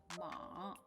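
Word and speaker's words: 马: I say it with the first tone ma, it means mother. And if I say ma, if I say it with the third tone ma, it means horse.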